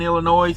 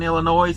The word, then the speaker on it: Illinois: Those tolls were all in Illinois, and yes, I pronounced the S in Illinois.